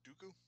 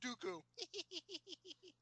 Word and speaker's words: Dooku: All right, I'm gonna go ahead and say Count Dooku because every time they said his name, I would start laughing in the movie theater. That's fucking dumb. It rhymes with doo-doo.